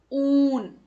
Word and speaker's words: ऊन: छोटे ऊ हम हल्के स्वर में कहते हैं, जबकि बड़े ऊ को हम जोर देकर थोड़ा सा उसको खींचकर पढ़ते हैं।